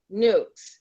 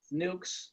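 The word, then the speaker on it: nuc: You can Google people that vendors that sell nukes, which is spelled N-U-C, Mm-hmm.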